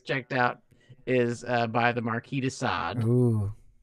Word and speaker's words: Marquis de Sade: out is by the Marquis de Sade. Ooh, but Mills pronounces it as the Marquis de Chardin. Yeah, that was really like it is the musical artist Chardin.